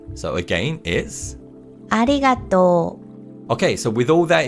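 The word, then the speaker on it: ありがとう: this character is not pronounced and instead we pronounce the vowel sound in Tor as a long vowel sound so again is arigato okay so with all that in mind let's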